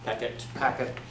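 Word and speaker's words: Packt: I don't know how to pronounce it. P-A-C-K-T. Packet. Yeah, but it's simplified.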